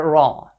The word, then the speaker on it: ر: arabic is the letter raw it looks like a banana or like this so the pronunciation of this letter is the same as the word raw that we have in english the counterpart of this